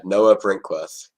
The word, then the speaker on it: Brinkworth: What's the exact No, pronunciation? you killed it. Yeah, Noah Brinkworth.